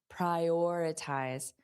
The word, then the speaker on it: prioritize: oritize, prioritize, prior. So, notice that or is the stressed sound, prioritize, prioritize.